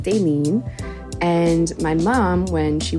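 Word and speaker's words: Dailyn: is ding Santana and phonetically it's pronounced Dalin it's spelled D A I L YN so you think it's pronounced Dalin but it's actually pronounced denen and my mom when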